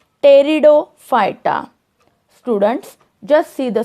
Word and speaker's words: Pteridophyta: Division 3, Pteridophyta. Students, just see the spelling. Here P is silent in the pronunciation.